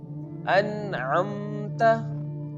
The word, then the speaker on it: an'amta: Here we have to pronounce the noon sound very clearly without taking it from nose, because I already told